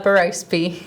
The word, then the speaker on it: Berrospe: to say it wrong tell everybody that uh baros all right thank you and thank you for